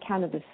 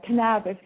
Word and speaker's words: cannabis: for Ascension a and he pronounces this can whereas here in Ireland we call it cannabis so do you hear him going Canabis is really really weird for me I think Canabis sounds much much cooler but anyway that